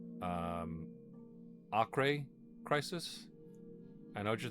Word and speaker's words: Acre: Um, in American English and British English, we would just call it acre. But um there is uh I want to say some place in I'm just going to broadly say the Middle East uh called Acher and there is a region of the Amazon forest named uh Ara. And in Portuguese, I believe you pronounce it a uh cuz I